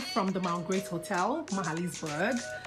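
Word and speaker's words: Magaliesburg: ebella reporting live from the mount great hotel mahalisburg it's actually spelled magaly's bird but pronounced mahalisburg yep i lent that one today and it's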